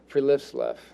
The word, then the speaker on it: friluftsliv: So it's pronounced Friluftsliv, and it's the Scandinavian philosophy for outdoor life.